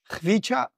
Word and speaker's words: Khvicha: Eh bien, réécoutons comment lui prononce son propre nom. My name is Khvicha Kvaratskhelia.